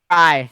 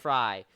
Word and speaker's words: Frey: Okay, first off, Stefan Frey is how you pronounce his name, right? Fry. Fry.